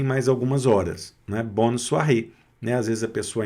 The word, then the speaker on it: soirée: para ela um bonne soirée, com a mesma pronúncia aqui, olha, O mais I da soir, né? Soirée, também aqui fechou, né? Com acento agudo no E, fecha a pronúncia.